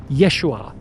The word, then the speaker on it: Yeshua: His real name was Yeshua Kamashiach. That's how you pronounce it in Aramaic.